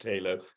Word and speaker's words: Tylo: So the dog who may make an appearance is called Tylo, although I know it's really pronounced Taylo, but nobody in Cardiff pronounces it that way.